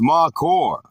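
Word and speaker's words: מָקוֹר: The word is Makor, pronounced Makor.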